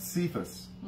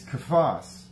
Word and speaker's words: Cephas: called him in aramaic we pronounce it we mispronounce it cephas it's kaphos and kaphos in greek is the aramaic word for rock he called him rock